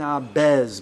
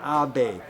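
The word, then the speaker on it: Ahbez: eden abe it ends with a z eden abbas but it's pronounced eden abe the first hippie ever right when the beats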